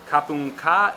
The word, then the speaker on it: ขอบคุณค่ะ: ขอบคุณค่ะ Kapung ka if you're a woman, or if you're a man saying it, kapung kap.